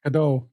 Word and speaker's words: Godot: And this is pronounced Godot. Like Godot? Like, or waiting for Godot.